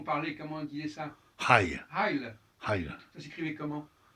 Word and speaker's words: Heil: H-E-I-L. H-E-I-L, ouais. Alors, E, c'est encore particulier. Ouais. Le I, il le prononce Heil. Il le prononce I aussi, comme les Anglais.